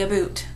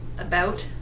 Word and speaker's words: about: Americans really enunciate that word. Americans say about. They really get that ow sound enunciated. Canadians, we're just a little lazier about it. About.